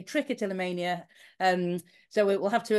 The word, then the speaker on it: trichotillomania: why people with trick of Tania and I pronounce it differently than UI and I say trick a till Mania um so we'll have to agree to disagree